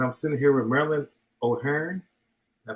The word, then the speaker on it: O'Hearne: host king and i'm sitting here with marilyn o'hare i pronounce it correctly you are thank you so